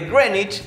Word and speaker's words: Greenwich: que dicen vamos a agarrar el meridiano de grenwich se pronuncia así aunque yo la mayoría del tiempo voy a decir greenwich porque me da muchas ya que circulan y